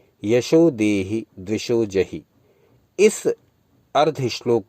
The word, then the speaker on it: द्विषो: रूपम देहि जयम देहि यशो देहि द्विषो जहि, दा में वा लगा हुआ है यहाँ, द्विषो, इसका उच्चारण द्विषो हो जाएगा।